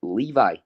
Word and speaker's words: Levi: So it's actually pronounced Levi.